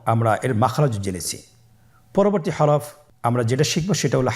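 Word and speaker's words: حاء: পরবর্তী হরফ আমরা যেটা শিখবো সেটা হলো হা। হা এর মধ্যে কোন নুক্তা আমরা দেখতে পাচ্ছি না। হা হরফটি কিভাবে উচ্চারিত হবে? হা হরফটি উচ্চারিত হবে কণ্ঠনালীর মধ্যখান হতে।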